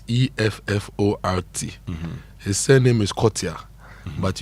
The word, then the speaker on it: Effort: The stress, and I like how Blessed got it, the stress is on the first syllable of the word. When I say the stress is on the first syllable, it means you stress the effort.